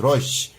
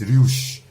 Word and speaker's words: Reusch: Okay, it's pronounced as Roche. Most people pronounce it as Rouge, but there's no right, there's no wrong. Maybe in certain other country, I don't know how they pronounce it, but the right pronunciation is Roche.